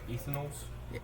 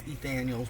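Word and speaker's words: Ethanel's: Ethanol's? It's Ethaniel's, but it's spelled Ethanol's.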